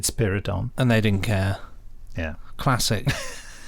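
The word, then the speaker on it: Spiridon: yeah you know that it's actually pronounced Spira Don as in spider and he made a note on his script that's good there we yeah and then she said spyridon and they didn't care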